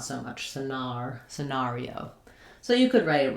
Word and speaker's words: scenario: I think of the air going together and the R, not so much scenario.